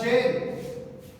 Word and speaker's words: gaol: पहला वर्ड है जी GAOL, जेल। Old language में हम जेल के स्पेलिंग GAOL लिखते थे, आज JAIL है।